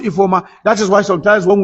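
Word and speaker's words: Ifeoma: That's how to write E for but it's pronounced E for that is why sometimes when we write we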